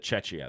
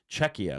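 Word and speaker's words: Czechia: I almost said Chetchia. That's different. Czecha, which is the Czech Republic.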